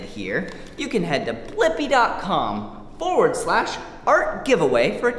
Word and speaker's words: Blippi: search for my name with me wait let's spell it together first b l i p p i blippy good job see you soon bye-bye come